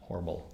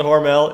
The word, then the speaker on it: Hormel: Austin is the headquarters of Hormel, which makes Spam, and Hormel in Austin is pronounced Hormel. Honestly, everyone else calls it Hormel. In Austin, it is called Hormel.